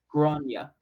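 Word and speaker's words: Gráinne: She asked what I meant, and I said, well, in Ireland, they typically pronounce it like Grania.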